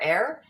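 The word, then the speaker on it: Aerr: How do you pronounce A-E-R-R? Air? Air, yeah.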